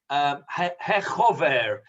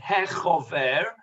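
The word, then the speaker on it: חבר: It's a title called Chaver in the Ashkenazic pronunciation, Chaver, or Chaver in the Sephardic pronunciation, although it doesn't exist in Sephardic communities.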